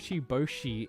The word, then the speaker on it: Bocchi: I tried to watch this, but your Bocchi instead of Bocchi? There's a glottal stop in there, bro.